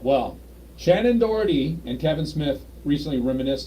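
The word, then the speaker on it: Shannen Doherty: you ready for this one yeah you know Shannon dhy is Right Shannon deori yeah yeah I guess you could say it that way it's where it's spelled um she she's picking on one of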